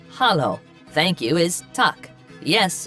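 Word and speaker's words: Halló: or daughter daughter 13 hello in Icelandic is pronounced Hollow thank you is Tu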